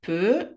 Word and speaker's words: peut: il peut, elle peut, on peut. לא מבטאים את ה-T.